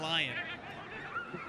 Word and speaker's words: Lyon: Charlie they own or in Lyon I'm giving him the French pronunciation I like your accent